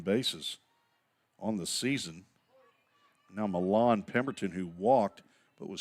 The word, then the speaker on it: Milan: It's what the little city in Denton, West Tennessee should be called, Milan, Tennessee. Instead, it's called Milan, spelled the same.